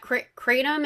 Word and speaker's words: kratom: And is this correct like that kratom am I saying it right?